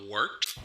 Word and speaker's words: Wort: It's pronounced the Wort. What is it? The wort? Yeah, okay, I'll do that again. This is The Wort on Govs Radio. It is the Wort. Not warts, not forts, not short.